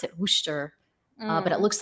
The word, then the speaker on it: Worcester: I guess they pronounce it Worcester, but it Mm. looks like it's pronounced Worcester or something like that.